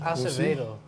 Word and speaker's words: Acevedo: Acevedo. That's what's up. Like, that's how you pronounce that last name.